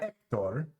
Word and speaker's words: Hector: it would be like ector but like something like Heather you'd pronounce the h okaya the football in Hector you don't pronounce the h but you wouldn't hands